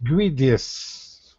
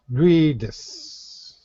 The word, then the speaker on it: greatest: You need to get a T at the end. Greatest. Greatest. Greatest.